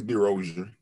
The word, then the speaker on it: DeRozier: Am I pronouncing that right? Brother Princeton. How you doing? It's DeRozier.